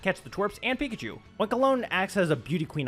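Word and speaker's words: Oinkologne: oink oink again what how do you pronounce that oink oink alone I know it's like cologne and oink oink I'm just oink alone whatever scovillain gives me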